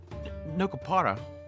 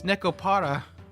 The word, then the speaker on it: Nekopata: Nokopata. It's Nekopata.